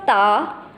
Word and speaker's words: da: So DA has a pronunciation of Ta, Ta.